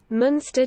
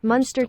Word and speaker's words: Muenster: British or American pronunciation so here's the British pronunciation Munster cheese monster cheese some monster cheese monster cheese